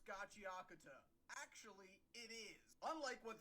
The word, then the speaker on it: Gachiakuta: That's not how you pronounce Gachiakuta. Actually, it is. Unlike what that guy said, it's not two separate words. It's Gachi and Akuta smashed together into one word.